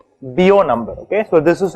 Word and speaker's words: Biot: is a dimensionless quantity it's called the bio number it's written as biot it's spelled as biot it's called the bio